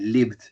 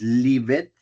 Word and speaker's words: lived: I lived. Ojo con esta pronunciación. No es lived, es lived. Lived, lived, lived. Si ustedes dicen leave it, está bien, se va a entender.